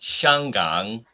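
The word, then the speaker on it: 香港: And this Also, is- Hong Kong is pronounced Shangang in Mandarin.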